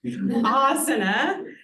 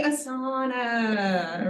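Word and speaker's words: आसन: People always say asana, right? Yes, my Sanskrit students are now cringing. You will cringe too. Asana, why? This is a long vowel at the beginning. So when there's a long vowel, you put the emphasis on the long vowel, asana. Similarly, mispronounced words, it is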